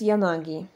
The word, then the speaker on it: Yanagi: Co ciekawe, jej syn, którego nazwisko zapisuje się tym samym znakiem, jego nazwisko już czyta się bardziej po japońsku, że tak powiem. I to jest Yanagi.